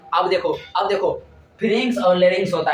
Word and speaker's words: pharynx: अब देखो फेरिंग्स और लेरिंग्स होता है।